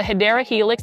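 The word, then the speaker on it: Hedera helix: That is the hedra helix or the hideera helix. That's the correct way to say it.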